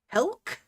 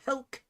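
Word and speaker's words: Helck: Yeah, it is Helk.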